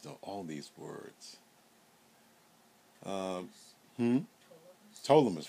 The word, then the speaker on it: Ptolemais: Ptolemais. Very good, thank you, because the P is silent.